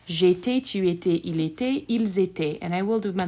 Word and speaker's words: ils étaient: Once again, inside of my boot, all of those will be pronounced the same. J'étais, tu étais, il était, ils étaient.